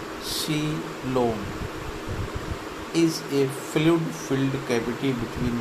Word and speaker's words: coelom: A coelom, in Greek words seal, hollow money pronounced coelom, is a fluid-filled cavity between the alimentary canal and the body wall.